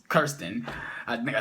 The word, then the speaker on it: Kirsten: I know it's not Kristen, it's Kirsten.